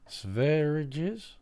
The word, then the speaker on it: Sverige: Sveriges? You are looking at Julian's pronunciation guide, where we look at how to pronounce better some of the most Hello, mispronounced Julian.